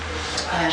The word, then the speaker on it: Sheol: Sheol, SHE'OL.